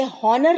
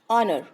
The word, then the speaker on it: honour: लेकिन यहाँ पे जो इसका प्रोनाउंसिएशन है ये हॉनर ना होकर के क्या है, ऑनर। This is called ऑनर, सम्मान। तो यहाँ पे आप देख रहे होंगे ये एच को हम रीड नहीं करते हैं, उसको हम क्या पढ़ते हैं, ऑनर।